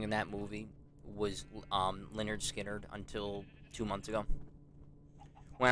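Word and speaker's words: Lynyrd Skynyrd: the final song in that movie was um Leonard skinnard until two months ago when I was I was listening to to pronounce lonard skinnard I was listening to it and you know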